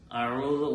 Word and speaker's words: أعوذ: ഇൻഷാ അല്ലാഹ് ആദ്യമായി അഊദ് ഓതിയാണ് നാം നിസ്കാരത്തിലാണെങ്കിലും അല്ലാത്ത സമയത്താണെങ്കിലും ഖുർആൻ ഷരീഫിന്റെ പാരായണം തുടങ്ങുമ്പോൾ ഇസ്തിആദത്ത് അത് വളരെ അത്യാവശ്യമാണ്.